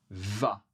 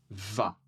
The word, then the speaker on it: vas: Pour la deuxième personne, nous avons tu vas. Tu vas. Encore une fois, le S n'est pas prononcé, mais alors, c'est assez simple.